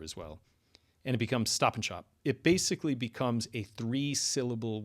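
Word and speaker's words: Stop & Shop: at Stop and Shop, if you listen to how people say that, stop and shop, they don't say stop and shop, even though that's the name of the store, the the A vowel in and is reduced and the D typically disappears altogether as well and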